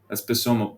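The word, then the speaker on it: psammoma: That's Pisoma. That's soma bodies. Pronounce the P.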